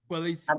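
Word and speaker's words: Kweli: Coeli, is that how you pronounce it? Quelly TV. Quelly TV.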